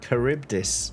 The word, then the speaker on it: Charybdis: Charybdis.